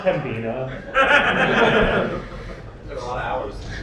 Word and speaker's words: Pembina: It's pronounced Pembina.